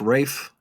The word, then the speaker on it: Ralph: brother right yes but it's pronounced Rafe is that pronounced Rafe